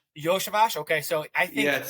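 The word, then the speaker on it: Iosivas: Those guys have that's actually how you say his name, Yoshavash. Yoshavash.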